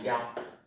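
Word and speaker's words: 幺: Thế cái số, các bạn nhớ cái số 1 cho số điện thoại thì người ta không đọc là y mà người ta đọc là giao.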